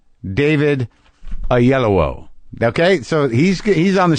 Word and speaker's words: Oyelowo: video to make sure I knew how to pronounce it a yellow David a yellow okay so he's on the show he's a